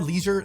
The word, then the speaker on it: leisure: Neither leisure nor leisure sound anything like the old or current French pronunciation of the word, but I feel like I do have to give a point to the Brits for this, as the word rhyming with pleasure is a lot more fitting than the word rhyming with seizure.